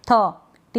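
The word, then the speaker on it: thought: Thank, थ, टी एच का थ हो गया, तो थैंक मतलब धन्यवाद। ये है थॉट, इसको हम थॉट पढ़ते हैं, थाउट नहीं पढ़ते।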